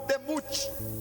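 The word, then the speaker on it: דמות: E a palavra semelhança no hebraico se pronuncia como demut.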